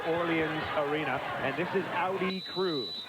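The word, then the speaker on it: Ari: Arena and this is Audi crew it's spelled a r i but at the press conference yesterday she says I want it pronounced like the car Audi and here we go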